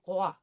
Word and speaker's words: roi: So we have the French R followed by the wa. So it's going to be roi.